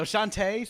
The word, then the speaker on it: Shantae: Someone already butchered me for saying Ashanti, so Shantae, sorry, Shantae, and the Pirate's Curse, that is being streamed tomorrow at normal stream times.